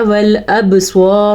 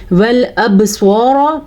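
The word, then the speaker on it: والأبصار: والابصار, با پہ کلکلا ہو رہا ہے کیونکہ با حروف کلکلا میں شامل ہے. قاف, طا, با, جیم, دال, یہ وہ 5 حروف ہیں کہ جب ان کے اوپر جزم آ جائے تو یہاں پہ کلکلا ہوتا ہے.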